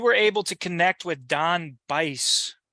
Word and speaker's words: Don Bice: able to connect with Don Bice is that how you say his name done by yes Don Bice yeah Nile's first cousin